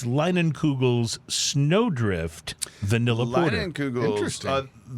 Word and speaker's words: Leinenkugel's: Remember, to make sure we were pronouncing their name right. And they did confirm that it is Leinenkugels.